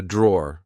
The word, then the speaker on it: drawer: Uh, this is a drawer. Like I said, um, be careful because in British English we don't pronounce the e at the end. We just say draw.